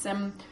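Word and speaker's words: སེམས: Okay, I added sem, pronounced sem, mind, mental continuum.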